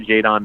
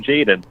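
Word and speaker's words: Jaydon: Fox nation on YouTube just talked to Jade on Mickens I said his name wrong in the interview I called him Jayden loved it when that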